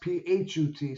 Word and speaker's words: Put: had a son name p pronounced phut so I'm guessing F